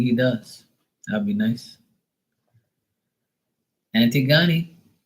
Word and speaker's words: Antigone: If you're saying it like that, like, you know, it's like ant, tig, go, ni.